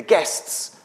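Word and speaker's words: gists: And guess by the way if you um are trying to write it down is spelled G I S TS which is a bit confusing.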